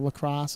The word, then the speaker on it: Lacros: law cross the lacrosse I think the lacrosse is how we're pronouncing it uh Google browser which